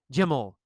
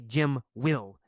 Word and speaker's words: Jim'll: We change the pronunciation. We say ol instead of will. We say ol. Jim'll. Jim'll. The man'll. The man'll challenge him. Jim'll fight him. We don't say Jim will. We say Jim'll. Jim'll.